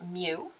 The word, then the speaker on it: mu: in our um materials represented by the variable mu it looks like a kind of a written or a scripty or a cursive U lowercase U but it is a Greek letter and it's pronounced mu um we're not going to be dealing with